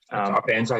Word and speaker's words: ARPANSA: And so you're familiar with the ARPANSA, if that's how you pronounce the acronym. ARPANSA, yep.